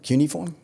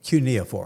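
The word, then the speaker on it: cuneiform: Cutuniform. Cunia form.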